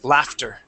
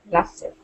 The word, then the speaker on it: laughter: Now this word here, remember that GH is going to make an F sound and that T. We do need to pronounce that T here on this word. Okay, the word is laughter. Laughter.